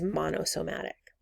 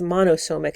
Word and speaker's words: monosomic: here this zygote is monosomatic or you could be trisomatic or trisomic um sorry it's monosomic and trisomic i was just pronouncing those words wrong you could be trisomic